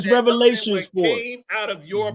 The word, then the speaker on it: Revelation: It's only Revelation. Revelation. Revelations. Oh, now you couldn't pronounce a word. Now you want to take a S and make it big.